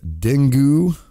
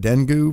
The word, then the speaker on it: dengue: Mosquitoes capable of transmitting dangerous diseases like Zika, dengue. Is that how you pronounce that? Dengue virus?